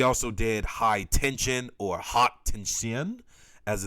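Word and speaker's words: Haute Tension: have eyes he also did high tension or hot tin shin as it's pronounced now um yeah directed this film and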